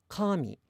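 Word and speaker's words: 神: So the word for God is pronounced high to low, kami. But then the word for hair and paper, I believe, are both pronounced low, high, low, with the particle attaching low.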